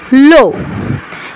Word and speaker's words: le: কিন্তু এটার আমরা উচ্চারণ করব লো।